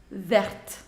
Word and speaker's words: verte: Alors, prononciation. Bleu, bleu. Vert, verte. D'accord?